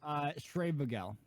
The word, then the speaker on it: Schreibvogel: himself admits it's a very difficult name to pronounce. Which is why he goes Schreibvogel.